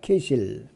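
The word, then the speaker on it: כסיל: 오리온은요, 남쪽 지평선에 나타나면 겨울에는 약간 서쪽에서 보이는데 히브리어는 케실이라고 발음을 합니다. 케실.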